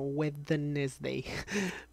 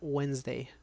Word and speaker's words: Wednesday: Cuando yo aprendí inglés, me lo grabé como Wednesday. Como era difícil de escribir. Wednesday. Pero se pronuncia Wednesday.